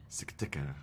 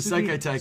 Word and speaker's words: Sekai Taikai: do you pronounce this? Each of you, please. Sakatika. No, the Seikai Taikai. Sugiyaki, no.